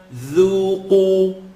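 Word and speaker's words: ذُوقُوا: Because dhal is light and it has an u. So dhu, qu. Qaf is heavy and has an u. So I should be able to hear the light dhu and the heavy qu.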